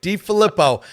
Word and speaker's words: DeFilippo: He even said, DeFilippo, am I saying it right? You say it, DeFilippo.